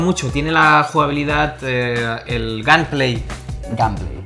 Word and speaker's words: gunplay: Y me ha gustado mucho, tiene la jugabilidad, el gunplay. Gunplay. De Gunplay, ¿vale? G-U-N-P. Exacto, no de Gameplay. L-A-Y. Que la gente dice. No, Gunplay. Es que Gunplay. Los tíos no saben pronunciar.